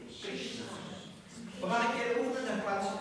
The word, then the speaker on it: Krishna: Maar een puntje onder de R, dan wordt er in het Sanskriet automatisch een I uitgesproken. Dus we krijgen een kri. Een puntje onder de S, dan wordt er een sh. En een puntje onder de N, dan wordt die N benaderd. Krishna.